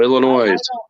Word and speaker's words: Illinois: Illinois I'm California so Illinois I'm sorry I was born there it actually is Illinois you don't pronounce the S well that's like Nevada